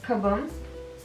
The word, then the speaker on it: kabım: Uh we're going to add, let's say kabım. Okay, so this is going to be a P that's going to become a B.